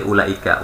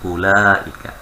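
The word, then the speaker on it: أولئك: Setiap huruf depannya panjang semua nih untuk ini, kecuali ulaika. Ulaika pendek bacanya. Langsung ulaika. Bukan ula, ini salah. Keliru ya, jadi langsung ulaika.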